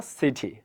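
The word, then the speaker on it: city: তো টি এর আগে এবং পরে যদি দুইটা ভাওয়াল থাকে, আমেরিকানরা, ব্রিটিশরা না, আমেরিকানরা যেটা করে এখানে সিডি উচ্চারণ করে, সিডি, I live in আ সিডি, হ্যাঁ। আর ব্রিটিশরা কি করে? I live in আ সিটি, সিটি, what ever.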